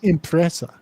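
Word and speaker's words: impresa: It was pronounced impressa. That's how the Italians pronounced the word enterprise back then.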